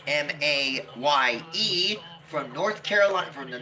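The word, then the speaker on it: Maye: Yeah, the E is silent.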